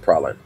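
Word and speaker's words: Praslin: oh that's porcelain island yeah it's it's pronounced praline see there 2010 there's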